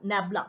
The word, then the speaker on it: nabla: so delta f so but this this is pronounced as what nabla we can also call it as nabla and it is given by what this nabla